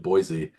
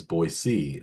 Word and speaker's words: Boise: So I think Penn State will win, but I'm gonna I think money line Penn State, but I would do spread Boise State or Boise State, as many Yes.